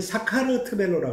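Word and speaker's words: საქართველო: 그리고 이 사람들이 자기들끼리만의 이름을 부를 때는 사카르트벨로라고 합니다. 사카르트벨로.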